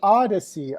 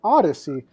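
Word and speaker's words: Audeze: Oh, it's pronounced Odyssey. Oh, Odyssey.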